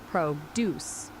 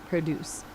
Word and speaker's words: produce: It's all about the stress. When you're talking about making something like your apple tree, the stress is on the second part, produce. When you're talking about fresh fruits and vegetables at a market, the stress is on the first part, produce. Same spelling, totally different vibe.